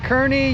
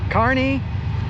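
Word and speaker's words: Kearney: I I was pronouncing it Kernney. You said it's Carney. Carney.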